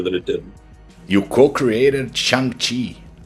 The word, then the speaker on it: Shang-Chi: You co-created Shang Chi. How do you pronounce his name? I call it Shang Chi because Shang-Chi. I'm not Chinese, but apparently in Chinese it's Shang Chi.